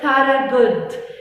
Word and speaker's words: Thorogood: Thorogood. خلي بالك قوي من الاسم ده، كبير شويه، فيه حروف كتيره silent ما بنطقهاش، بس اسمه Thorogood.